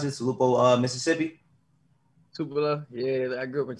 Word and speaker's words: Tupelo: Is that how you pronounce it? Tupelo, Mississippi? Tupelo.